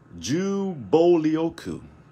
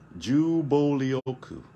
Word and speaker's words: 銃暴力: word for gun violence and that word is pronounced jubolioku all right jubolioku gun violence so the first kanji in that